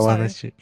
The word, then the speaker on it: Ahwahneechee: Ahwahneechee.